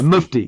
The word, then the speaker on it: mufti: Yeah, I had to look up how to pronounce it. Yeah, mufti.